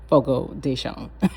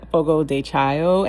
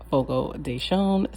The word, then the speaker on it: Fogo de Chão: And that is the correct way to pronounce Fogo Deson. We've been saying fogo dechio and that is not the correct way. It is called fogo deon.